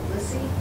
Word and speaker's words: Lisee: How do you pronounce that? Carissa Lissy. Lissy.